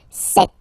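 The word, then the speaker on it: sept: Then here remember p is not pronounced. Okay. Doesn't exist. So you got this set sound set.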